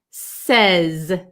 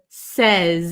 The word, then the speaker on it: says: So, um, uh, says with an S at the end, we pronounce the S sound. says says and it's like an a short e sound says.